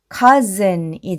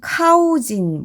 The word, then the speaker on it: cousin: 그러면 앞에서부터 읽어보면 여기까지 그리고 즌 해서 cousin이 되고요. cousin은 사촌이라는 뜻입니다. 뜻은 어렵지는 않은데요. 이렇게 묵음이 많이 있다 보니까 이것을 모르면 카우진 뭐 이런 식으로 읽을 수도 있겠죠.